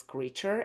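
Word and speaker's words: Kreacher: And I know that his name is spelled differently, but it's pronounced as creature.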